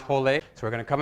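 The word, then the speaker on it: rolê: e in brazilian portuguese when there's an r in the beginning of the word in many in many cases it has an h sound and there's a little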